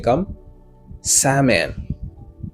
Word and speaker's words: salmon: Oh no, no, no, mot ça il est prononcé comme salmon. Salmon. L n'est pas prononcé.